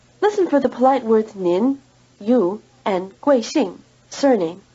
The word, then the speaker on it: 您: Let's compare the polite word for you, nin, with the plain word for you, ni. There are two differences in pronunciation. First, the polite word has a final N sound, nin, while the plain word doesn't, ni.